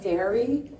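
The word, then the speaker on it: Daré: There's a company called Dairy, which is in Oregon. Has anyone heard of it? It's spelled D-A-R-E.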